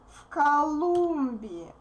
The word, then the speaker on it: в Колумбии: From Colombia, из Колумбии, in Colombia, в Колумбии, в Колумбии. Voiced V becomes voiceless since K is voiceless.